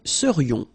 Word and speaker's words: serions: So then, final S not pronounced, and then this is this yon, yon. Remember, it goes in your nose, it's nasal. Yon. Nous serions. Okay, then vous seriez.